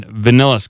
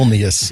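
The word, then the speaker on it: Vilnius: According to the spokespersons, more than two dozens reached a wider uh in Venillis County. Am I not saying that right? It feels like I'm saying it right. Okay. Vius, it's the capital of Lithuania.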